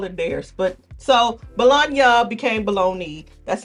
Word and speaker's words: Bologna: It comes from the city Bologna. That's an Italian pronunciation, three syllables.